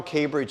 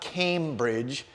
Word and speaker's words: K'Bridge: And look how K Bridge is spelled. It's not Cambridge, but K, the letter K, Bridge.